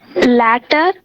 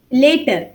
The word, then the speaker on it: later: Latter. Later. You have to pronounce it later.